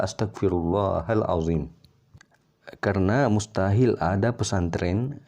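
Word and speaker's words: أستغفر الله العظيم: tahu So ini keliru Astagfirullah itu salah tapi yang betul adalah Astagfirullahaladzim Hai karena mustahil ada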